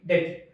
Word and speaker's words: debt: సో ఇక్కడ కూడా అంతే, B అనే లెటర్ T కంటే ముందు వచ్చింది, సో ఇక్కడ కూడా మనకి B అనేది సైలెంట్. సో DEBT, డెత్.